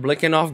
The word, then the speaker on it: Biletnikoff: for you guys today today we have Fred blicking off game that's how you pronounce his last name so I hope you